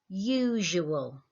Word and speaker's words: usual: The word is usual. Usual. Can you hear that j in there again? Okay, so our spelling focus for the next couple of days is that j sound is spelt with an S.